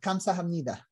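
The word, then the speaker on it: 감사합니다: and and wait how do you say uh kamsa hamnida yes great perfect yeah you nailed it yes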